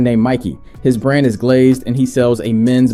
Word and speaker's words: GLZD: I type one message, pronounce GLZD as glazed, and don't say glazed too many times.